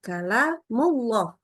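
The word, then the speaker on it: كلام الله: Nah ketemu dengan Allah maka kalamullah Ingat lamnya dibaca tebal ini jadi tidak dibaca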